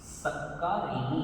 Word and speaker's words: सक्कारे: सामी नमन सामी सक्कारे सक्कारे य क पर एसस देंगे सत्कार सत्कार करता हूं